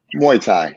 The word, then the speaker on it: Muay Thai: Is that how you pronounce it? Muay Thai.